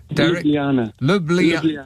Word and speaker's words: Ljubljana: Ljubljana. Lubljana in Slovenia.